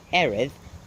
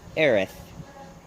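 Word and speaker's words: Erith: what's the face of pronouncing eros eros eros eros and all three of those were wrong it's Eris whatever that yeah why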